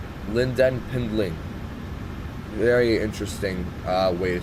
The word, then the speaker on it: Lynden Pindling: How do you pronounce it? Hold on. It's Lynden Pindling. Lynden Pindling.